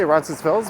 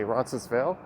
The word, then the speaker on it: Roncesvalles: of rancesville's i say ronson spills but a lot of the locals here will say roncesvale they won't pronounce the s some will though and a lot of